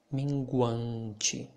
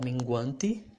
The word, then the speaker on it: minguante: Oh, crescente, minguante, wante, ente, nasal sound. And I also call your attention about the way you pronounce the letter T. You can pronounce like crescente or minguante.